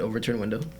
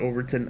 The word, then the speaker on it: Overton Window: to do with an overturned window over to Overton Window I think you pronounce it Overton and I have no